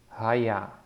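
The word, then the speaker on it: היה: So with a ha, ya, and the he at the end is silent. So when you see the he at the end, you don't have to force it. You don't have to try to pronounce it.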